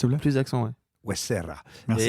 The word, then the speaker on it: Huesera: Huesera. Merci. Et c'est mieux sur accent tonique.